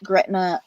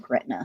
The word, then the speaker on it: Gretna: high school band in Gretna Virginia I think it's pronounced Greta it's so the it's